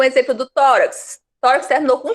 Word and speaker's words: tórax: Então, tórax, ela é acentuada. Mas é só porque terminou em X?